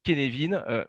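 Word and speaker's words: Cynefin: appris récemment qu'en fait c'était du gallois et que ça se prononce et kevin mais à des fins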